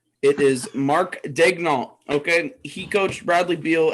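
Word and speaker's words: Daigneault: 35 i'm trying to pull up how to pronounce his name it is mark dagnolt okay he coached bradley beal at florida with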